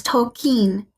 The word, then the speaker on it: Tolkien: bad American accent but I've been pronouncing his name wrong oh no oh boy the correct way is token now remember JRR tolken